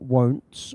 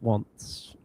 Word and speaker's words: once: It's pronounced wants, not won't. Once.